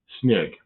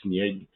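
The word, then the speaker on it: снег: Sneg. It would be spelled like in English s n e y g sneg.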